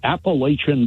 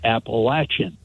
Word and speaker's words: Appalachian: came on and he said here at the Appalachian Power company we're here to serve you or something like that and all the people in Virginia said Appalachian where's that because they pronounce it appalachin really and when that was pointed out to